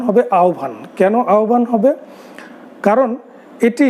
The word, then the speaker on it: আহ্বান: আমাদের এই গল্পটির উচ্চারণ, নামের উচ্চারণ হবে আহ্বান।